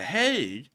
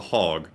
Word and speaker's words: Hague: do know somebody that pronounced the Hague a lot differently um and they called it the hog um so I was